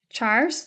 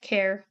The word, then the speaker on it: char: and finally we have chars that are used to hold a single character some people call it care care or Char either either pronunciation is good pool variables hold either